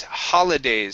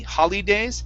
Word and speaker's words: holidays: good uh next is holidays so the eye here in the middle is a is a short i sound instead of holly holly days it's holly holidays holidays okay very good and